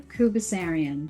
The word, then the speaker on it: Khoubesserian: It was perfect, Ryan. Khoubesserian. That's correct.